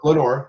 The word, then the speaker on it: Lenoir: Is it Lenoir? Is that how you pronounce Lenor? Lenor County. Yeah.